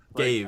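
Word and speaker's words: Ghave: You found the pronunciation? It's Gave. Cave. Gave.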